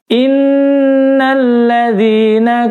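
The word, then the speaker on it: إِنَّ الَّذِي: Nun tasydid di sini dalam ilmu tajwid namanya gunnah nun. Bacanya ditahan 4 ketukan. Nah, kebanyakan banyak yang nggak baca ditahan. Cuma innalladzi qul a'udzu birabbin binnas, tapi padahal harus ditahan. Innalladzi, ya, jadi harus tahan.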